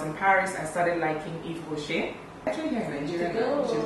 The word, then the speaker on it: Yves Rocher: Eve, like the lady in the Garden of Eden.